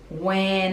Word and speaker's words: went: The Eensy Weensy Spider went up the water spout. Went up, so connecting these two words, went up, and we don't really pronounce the T in went.